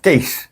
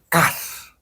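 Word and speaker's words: cache: Buff nih Nah ini nanti ada juga yang menyebutnya kas Oh kas i ini orang banyak Eh membacanya case itu salah oh salah ya ya kalau case itu casing Oh cas itu cas betul juga nah kalau ini bacanya case kalau ini bacanya kas kas ya ini banyak orang yang salah itu loh kan ada yang L1 kas L2 kas orang bilang L1 cas L2 cas itu salah itu ya nanti diketawain itu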